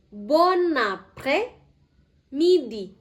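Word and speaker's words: bon après-midi: Karena kata ini eh diucapkan setelah jam 12.00. Oke, Reptia Premoa ikutin saya. Bon na pre midi bonapre midi bonapremidi bonapremidi.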